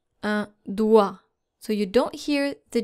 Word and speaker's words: doigt: And there are actually two silent letters here, which are the G and the T. So you're supposed to pronounce this word un doigt. Un doigt.